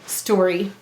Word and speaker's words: story: The Y says it's E sound only in an unstressed syllable at the end of a multi-syllable word. Let's read it. St, or E, story.